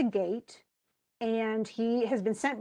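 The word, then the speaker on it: Geat: he's a he is a gate it's spelled g-e-a-t but he is a gate and he has been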